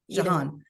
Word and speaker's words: Jahan: Jahan, is that how you pronounce her name? Yeah. John or What? Jahan? Jean or Jahan? Jahan.